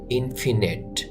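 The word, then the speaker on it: infinite: ইনফিনিট অসীম অসীম ইনফিনিট লেখা আছে ইনফিনিট কিন্তু উচ্চারণ করতে হবে এভাবে ইনফিনিট অসীম ইনফ্লুয়েন্সিয়াল ইনফ্লুয়েন্সিয়াল প্রভাবশালী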